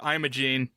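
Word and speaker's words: Imogene: So, the the way that I wonder if how it's supposed to be pronounced, but the way that Meline Con says is like I'm a gene.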